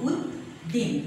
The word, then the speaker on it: জসীম উদ্দিন: এই হসন্তের উচ্চারণটা একটু আমরা এখানে জোর দিয়ে বলবো উদ্দিন, দয়দিকের দিন উদ্দিন, জসীম উদ্দিন।